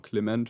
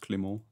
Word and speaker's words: Clement: Clement for Denmark. Yes, he is not pronounced Clément, as far as I know, so I believe I pronounce it correctly.